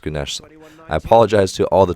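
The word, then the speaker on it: Güneş: love that celebration from gunes there ganesh i think her name is pronounced gunas i apologize to all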